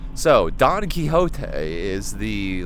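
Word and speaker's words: Quixote: Like English speaking places, it's quicksotic, but like technically the word is kiote.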